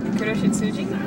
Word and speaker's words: Kuroshitsuji: Kuroshitsuji.